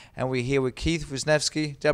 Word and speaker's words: Wisniewski: for UFC 145 and we're here with Keith winki did I pronounce that right yes you did who's fighting